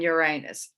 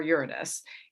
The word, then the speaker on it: Uranus: with black lilith and uranus or uranus however you want to pronounce it both are acceptable if you've been feeling